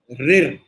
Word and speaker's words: ऋ: इस ध्वनि का उच्चारण सामान्यतः र धन ई बराबर री की तरह व्यंजनबद्ध होता है।